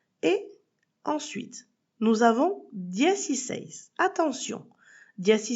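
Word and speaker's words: dieciséis: Et il ne faut pas oublier de mettre un accent écrit sur le dernier e sinon l'accent tonique ne se placera pas bien.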